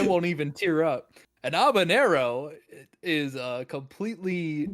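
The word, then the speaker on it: habanero: an abanero how Aero how are you pronouncing the J in that sir there's no J in abanero it's not a jalapeno it's an abanero these are two different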